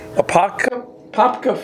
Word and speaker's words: Apopka: Apopka, Florida at the VFW post.